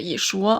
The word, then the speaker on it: Yeshua: Ils savent que Jésus doit être prononcé Yeshua en hébreu.